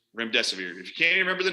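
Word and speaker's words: Remdesivir: Tell them to pronounce it. Run, Death is near. So run, death is near. Remmesa.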